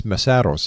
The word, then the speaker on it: Mesaros: Now, I think I pronounced your family name wrong. It's MESAROS, am I right?